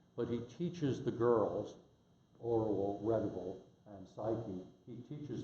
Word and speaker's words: Orual: I always say Orual. I remember when I was 12, I would read a book and I'd have my own pronunciation for the characters. At least now, having taught language for 50 years, I think about what the names are. Orual, O-R-U-A-L is her name.